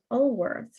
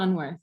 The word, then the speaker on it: Unwerth: And I know that you work with Ellen von Ulwerth, right? Is that how to say her name? Yeah, Ellen von Unwerth.